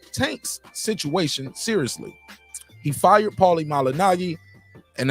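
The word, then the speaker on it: Malignaggi: seriously he fired Paulie malinagi and it is not malinaji yeah I I we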